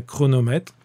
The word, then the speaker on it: chronomètre: Un chronomètre, j'entends le son que qui se fait avec les lettres C et H.